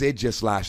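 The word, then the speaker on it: Aegislash: It's Idgislash, and I know that pronunciation's a little bit weird, but I assure you it is correct.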